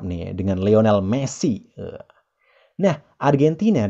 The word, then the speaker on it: Argentina: Nah, Argentina dalam bahasa Inggris diucapkan Argentina. Argentina. Argentina.